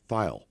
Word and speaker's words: Thayil: Everyone said Thayil. And then I saw something with him, and he said, hi, it's Kim Thayil. Yeah. And I almost wanted to tell him, I think you're saying her name wrong, boss.